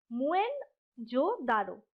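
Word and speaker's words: Moen jo Daro: ठीक है, एक्चुअली में क्या था कि इस जगह का नाम जो एक्चुअल प्रोनाउंसिएशन था सिंधी लोगों के द्वारा वो था मुएन जो दारो, यानी कि MUEN, मुएन जो दारो, दारो।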